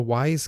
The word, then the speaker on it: Wyze: And what we found was these cool things called the Wise Cams. It's spelled WYZE.